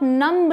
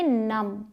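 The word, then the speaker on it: numb: silent होता है तो यहां आप नंब नहीं बोलेंगे क्या बोलेंगे नमक तो ये एक ट्रिक है आपके लिए बी साथ में है तो बी साइलेंट सी इस नम ठीक है अगला है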